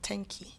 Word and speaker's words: tenki: Well, thank you or tenki. Tenki. It's like 10 keys. 10 keys. 10 keys. But without the S.